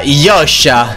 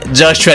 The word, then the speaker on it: Joshua: E un'altra cosa, quello non è il mio nome. Si pronuncia Yosha e di cognome faccio. Quindi Joshua non è accurato, eh.